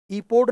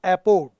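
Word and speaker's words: epode: इसमें स्ट्रफी होता है, इसमें एंटी स्ट्रफी होता है और इसमें एपोड होता है, ईपोड नहीं, दिस इज एपोड। स्ट्रफी, एंटी स्ट्रफी और एपोड, ये पुरानी पिंडर जो था ये बहुत पुराना 5th BC का एक ग्रीक पोएट है।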